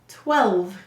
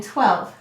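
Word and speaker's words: twelve: All right, why do we have a silent final E in 12? You're right. English words do not end in V or U. Therefore, we need an E.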